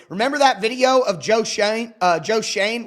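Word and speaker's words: Schoen: Remember that video of Joe Shane uh Joe Shane, which I hate the way his name is spelled. Makes no sense to me. It should be shown, but Joe Shane, the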